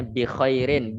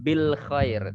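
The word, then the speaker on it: بخير: bikhoirin walhamdulillah adbitcoin walhamdulillah Oke kita bacanya bikhoirin bukan Bil Khoir tapi kita bilang pengingat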